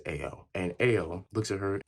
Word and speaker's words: Ao: It's spelled literally A and O, so I'm assuming it's Ao.